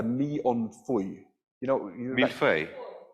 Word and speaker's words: millefeuille: You know, Millefeuille. It's millefeuille. I'm not sure how you say it. Can you say it properly? That one, yeah. Millefeuille.